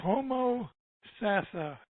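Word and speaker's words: Homosassa: get it right yet I mean Jerry its homo sassa okay it's an Indian alternative lifestyle community okay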